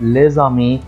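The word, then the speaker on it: les amis: بحرف متحرك فتنطق زد زي لما بقول ايه كلمه الاصدقاء لزامي لز ز لزامي ما ينفعش اقول لزامي خطا دي ملاحظه ظه مهمه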